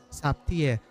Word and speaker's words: Zaptiye: Saptie. So, parang Russia kasi siya. So, kaya ganun yung bigkas niya.